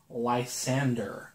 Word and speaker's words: Lysander: oh and then there's Lysander I feed at Tufts pronounced like Sandra like sander anyway here you know